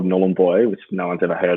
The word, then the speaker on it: Nhulunbuy: I was born in a pretty remote town called Nhulunbuy, which no one's ever heard of, and then and thanks for pronouncing it for me. Yeah. No, you don't have to. Yeah. Nhulunbuy, that's it.